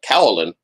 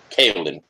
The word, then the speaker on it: Kaolin: And I suppose that even the Cowlin, or Cowlin, is that how you pronounce it, Patrick? I was saying Kaolin. Kaolin.